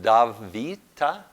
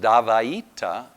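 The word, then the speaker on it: dvaita: haven't pronounced it yet you can pronounce it so the V becomes a w sound you can pronounce it DAV Vita you can pronounce davaita and you can pronounce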